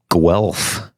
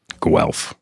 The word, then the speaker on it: Guelph: you coming from from tonight i am in guelph ontario which is about 45 minutes west of toronto oh guelph guelph could you spell that it's g u g-u-e-l-p-h